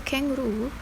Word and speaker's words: kangaroo: Equally, most speakers will know that in kangaroo, the last of its 3 syllables receive the most stress, and so on.